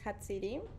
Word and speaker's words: Jatziri: So it's a name from Mexico, so and I pronounce it on Spanish, Mm-hmm.